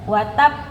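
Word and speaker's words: وَتَبَّ: Iya, tadi ada yang masih kedengaran langsung ya dipantulkan. Coba sekali lagi semuanya dijeda dulu baru dipantulkan ujungnya ya. Lahabiu jangan lupa tab jangan lupa.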